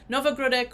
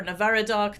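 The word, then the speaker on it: Navahrudak: basic context here so novogradek or navaradoc depending on what you how you pronounce it this is a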